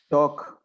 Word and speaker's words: talk: will find in a never pronounced letter l when the the the words include that for example talk walk no no you don't pronounce it yeah nice dog walk